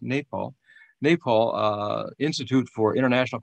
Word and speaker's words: Nepal: i should say nepal i've been calling it nepal all these years but i'm told it's pronounced napal nepal uh institute for international cooperation and engagement